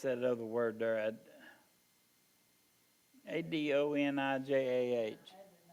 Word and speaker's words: Adonijah: And of his 2 sons, the best known to the Bible readers are Absalom and, how do we pronounce that other word there? Adonijah. Adonijah.